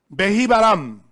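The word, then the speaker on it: בהבראם: Behibaram.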